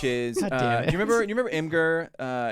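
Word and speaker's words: Imgur: it I think so I used to think it was imager but I think that's wrong there's no I've saying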